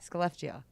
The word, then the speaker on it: Skellefteå: Skellefteå.